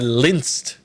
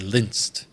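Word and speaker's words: LINEST: then the new uh linsed functions that's how I'm pronouncing it is lynched um or linist like Linus from from the Peanuts Gang um can you give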